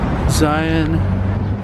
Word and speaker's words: Xi'an: Xi'an Famous Food.